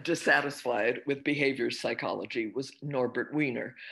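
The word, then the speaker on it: Norbert Wiener: with behavior psychology was norbert weiner i'm giving him the pronunciation that uh americans give and that he used he was a mathematician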